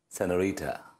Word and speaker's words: Señorita: Raj, I am Señorita. Señorita! Raj! Angoori, learn to pronounce it properly. It's Señorita.